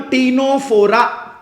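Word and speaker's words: Ctenophora: phylum is called phylum टीनो फोरा क्या कहेंगे टीनो फोरा अब आप बोलोगे सर यह दोनों सी से स्टार्ट हो रहे हैं लिसन केयरफुली यह सी और यह सी साइलेंट है अब इंग्लिश में कुछ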